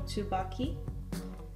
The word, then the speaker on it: Tsubaki: It's called Tsubaki, or Tsubaki, to pronounce it properly, by Shiseido, which is a really good Japanese cosmetics brand.